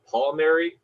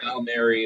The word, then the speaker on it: Palmeri: I've always pronounced it with a heavier A sound. So it's Palmeri, but Palmeri is fine. However you say it is totally okay.